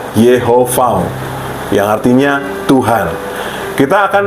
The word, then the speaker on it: Yahweh: Kemudian kata berikutnya Yahweh atau pelafalannya Yehovah, yang artinya Tuhan.